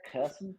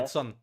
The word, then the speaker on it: Kherson: And as you're going to be in charge of pronunciation of all the cities and whatnot, but they retook. How did you say it? Kherson. Kherson. Kherson.